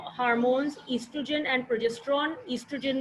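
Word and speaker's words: estrogen: ईस्ट्रोजन में ओ is silent, ई से pronounce करते हैं, ईस्ट्रोजन एंड प्रोजेस्टेरॉन।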